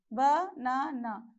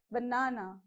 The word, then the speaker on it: banana: that syllable okay so you have to stress on this second syllable right so how do you pronounce this banana okay so the first